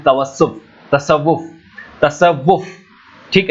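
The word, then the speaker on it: تصوف: इसी को बोलते हैं तवस्सुफ, तसव्वुफ, तसव्वुफ। ठीक है, तो इसका प्रोनाउंसिएशन तसव्वुफ होता है।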